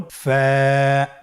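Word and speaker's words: ف: ফা হরফটি উচ্চারণের ক্ষেত্রে বারিক হবে এবং এক আলিফ টেনে পড়তে হবে। আপনারা আমার সাথে আবার বলুন। ফা।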